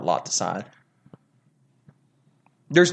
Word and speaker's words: Scythe: You say it as if it was spelled S-I-T-H-E.